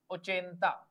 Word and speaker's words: ochenta: 80 in Spanish is ochenta. OCHENTA.